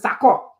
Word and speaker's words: Sako: I'm pronouncing that word that he told me how to pronounce it, Sako.